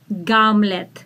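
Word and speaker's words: Гамлет: the shakespeare hamlet and in the russian language we say gamlit gamlet so instead of her we say ge gamlet and the dad will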